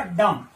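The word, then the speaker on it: dumb: इसका प्रोनाउंसिएशन क्या होगा, डम। क्या होगा, डम। कई बार क्या होता है कुछ विद्यार्थी इसको डायरेक्ट डम्ब बोलते हैं, डम्ब गलत है, वो है डम।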